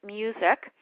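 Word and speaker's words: Musiek: was developed by Frank music um and that's spelled not like mus I not like music but it looks like MUSC um you can go online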